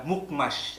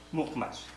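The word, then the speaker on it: Mukhmas: Sa ngayon, kung si-search niya, Mukmash ang pangalan niya. Mukmash. Ang modernong pagbigkas.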